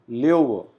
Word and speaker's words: Löwe: This particular letter has a pronunciation of AO. So we call it der Löwe.